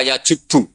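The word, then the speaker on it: يَجُبُّ: Itu bacanya bukan yajibu tapi apa?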